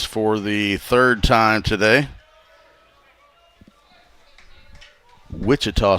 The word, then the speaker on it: Wichita: Wichita State with the CH pronounced hard, unlike Washita with the soft CH.